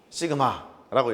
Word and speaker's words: 시그마: 시그마라고 읽고요. S의 그리스 소문자는 이렇게 씁니다. 똑같이 시그마라고 읽어요.